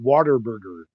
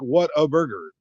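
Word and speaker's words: Whataburger: in Texas and ask them why they're not Water Burger I never even heard of it Water Burger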